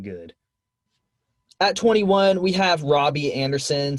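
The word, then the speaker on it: Robby Anderson: at 21 we have robbie anderson some may say roby anderson i would disagree it's spelled like robbie the panthers are taking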